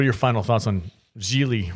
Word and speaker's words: Gigli: your final thoughts on geely rhymes with really i'm ashamed that you